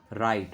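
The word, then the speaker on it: write: राइट, राइट में डब्लू की sound हमारी नहीं आ रही तो डब्लू हमारा साइलेंट है।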